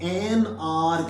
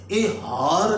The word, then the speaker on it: hour: आर एक घंटा है, तो एच है लेकिन एच बोला नहीं जा रहा, तो आप NR कहते हैं एक घंटा, ए हार नहीं बोलते, एच साइलेंट है, एच साइलेंट हो जाएगा, आगे ओ की साउंड आ जाएगी, ये NR